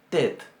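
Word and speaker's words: ט: Bien, entonces esta se pronuncia tet. Para que se den una idea la vamos a comparar con la que está al final del alfabeto, que es la tau, y que sería nuestra T. Esta es tet y esta es tau. Esta es tet y esta es tau. No sé si logran percibir la diferencia en el sonido.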